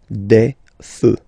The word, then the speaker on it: feux: You don't put S, but you will put X instead, and then you don't pronounce it. Des feux, un feu, des feux.